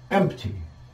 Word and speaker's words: empty: file a the word empty and here you see the the sound M and T over here and usually this word the P is barely pronounced so we'll be left